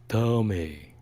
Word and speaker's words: Tommy: Well, So it's pronounced Tommy. it's kind of like in Team America, like Matt Damon.